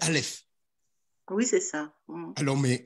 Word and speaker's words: Aleph: Hein, on dit Alep, mais c'est Aleph.